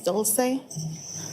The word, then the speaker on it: Dulce: to have you tell us your name and spell it out because the court reporter is writing everything down. Um, my name is Doulce Doulsece and D U L C E